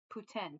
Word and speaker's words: poutine: You pronounce poutine differently like and not the original intended way. It's supposed to it sounds more like poutin. Putin cuz that's the the French Canadian pronunciation.